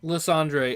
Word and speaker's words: Lysandre: You don't meet someone named Andre and call them Ander.